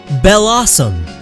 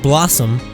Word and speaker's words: Bellossom: Bellossom. There's a bell in there, it's not just Blossom, that would be a terrible name.